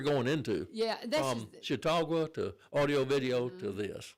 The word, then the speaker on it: Chautauqua: Yeah, Chautauqua.